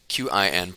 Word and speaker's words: Qin: Qin, pronounced Qin.